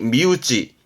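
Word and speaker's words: 身内: 단어였고 우지가와 신 내잖아요 몸 아니라고 봅니다 그래서 발음이 미우지 미우지 미우지 아는 건 몸 아니라함은 내 가족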